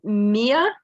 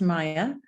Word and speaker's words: Mia: But how about Mia? Hi, it's pronounced Maya. Maya, I'm sorry.